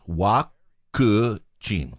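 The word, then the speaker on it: ワクチン: It's vaccine, but you mangle it with accent. Yeah, you katakana-rize it. Can you remember? We talked about it ages ago. Wakuchin. Yeah, wakuchin.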